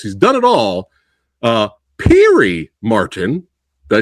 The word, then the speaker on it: Pirie: Uh Perry Martin.